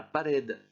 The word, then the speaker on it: pared: Le mot pared se termine par une consonne, donc c'est cette dernière syllabe qui doit être prononcée plus fort, de même que pour hospital.